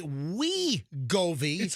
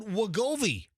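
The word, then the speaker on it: Wegovy: It's it's we go. It's always been we go. We never said we goi. We always said wiggoi.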